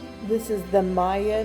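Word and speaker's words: Maia: this is the Maya nebula NGC 1432 I think that's how you say it m a i a is how it's spelled well this image doesn't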